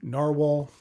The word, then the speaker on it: Nahvalur: Even though they are spelled differently, it is pronounced the same, Narwhal.